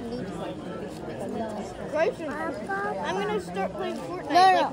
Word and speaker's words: Nutella: How do you say Nutella? Is it Nutella? I think it's Nutella. I'm gonna start playing Fortnite one or two games. Cause only for one reason. I think it's like Nutella.